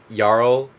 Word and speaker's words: jarl: Like in the Old Norse is Yarl, but they're also saying Earl and in like the Viking show they call them Earls.